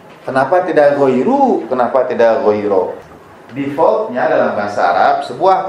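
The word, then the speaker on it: غير: jalan orang yang tersesat, seharusnya kita membacanya ghairo. Siratal ladzina an'amta alaihim ghairo, bukan jalan orang yang tersesat. Ini kenapa dia ke i?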